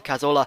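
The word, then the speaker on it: Cazorla: ateta Falls to thanan cazola I always put so much Spanish pronunciation on that and it falls to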